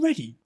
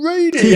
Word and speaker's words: Reedy: And he turned around and went, "Fucking ready? My name fucking Reedy." And he just went for it. "Reedy, not ready."